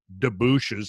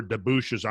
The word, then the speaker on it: debouche: I think debouche is probably correct. Debouche. Debouche. Yeah, the E is silent on that.